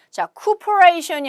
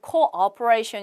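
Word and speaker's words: cooperation: 예안은 않고 앞으로 rain 자쿠 플레이 션이 아니고 코어 프라이 션 이라고 발음을 하시면 되겠어요 협조 라는 뜻이 되겠어요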